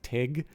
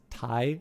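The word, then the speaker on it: Tigh: the character's name pronounced i always thought it was tig but it's tai apparently um but he's canadian actor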